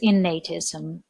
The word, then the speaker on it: innatism: The second theory is innatism. Notice the pronunciation, please. The root is innate and the word innatism.